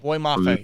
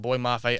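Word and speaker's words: Boye Mafe: Boy Mafe? Boy Mafe, yes. Minnesota? Yes, that's how you say his name, Boy Mafe.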